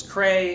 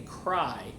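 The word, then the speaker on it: Creye: The other day I was talking about a band from Sweden, and I thought their name was Cray. It's actually Cry is the name of the band, although it's spelled C-R-E-Y-E.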